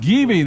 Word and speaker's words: Givi: carry shad and Gabey so it's pronounced Givi that's the second pronunciation